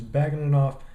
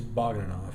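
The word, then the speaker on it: Bagautinov: Alright, y'all, time to do my picks for UFC 174, Johnson versus Baugitinov.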